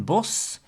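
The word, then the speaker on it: Bosch: for the ending of the name Utrecht then boss so as you can see it's s-c-h at the end and we don't pronounce the CH that means the pronunciation of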